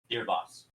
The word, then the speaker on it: Deerbas: Deerbas. Pronounced as in deer and Baah.